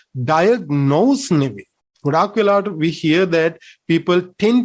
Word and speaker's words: diagnosis: to pronounce this as diagnosis no it is wrong it should be diagnosis diagnosis okay according to british standard pronunciation it should be diagnosis okay the next thing